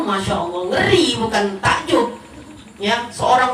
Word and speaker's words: Masya Allah: dunia ngeri kalo statusnya Masya Allah tabarakallah bacanya per Masha Allah Ngeri bukan takjub yang